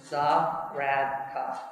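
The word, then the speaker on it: Zahradka: It's just 3 syllables. Za-rad-ka. Okay?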